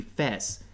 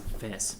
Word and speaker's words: FES: of Persona 3 called Persona 3 Fess like FES Fess that's how it's pronounced I don't know why